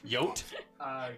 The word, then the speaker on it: Yuot: How do you spell it? Y-U-O-T. That's a total Y-U-O-T. name. Yote. Yote.